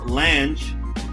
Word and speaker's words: Lange: I'm talking none other than Ted Lange. Did I pronounce that right, brother? That is correct, sir.